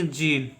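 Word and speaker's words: gene: प्यार प्र नेक्स्ट देखिए जी एन ई में क्या होगा साइलेंट होगा इसका उच्चारण करेंगे जीन जीन का मीनिंग होता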